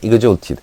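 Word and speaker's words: exhorted: 그 다음에 exalted. H가 발음이 안 되고요.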